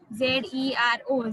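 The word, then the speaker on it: zéro: Z-E-R-O, Z-E acute R-O.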